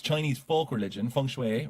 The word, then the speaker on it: feng shui: it correct leader so I looked it up and it is Fung Shui Fung Shui that's way